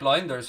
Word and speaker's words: Lijnders: I mean, when we did our research on Diogo Jota, it was Lijnders who I have to say Lijnders now because that's the correct pronunciation apparently, who had the contacts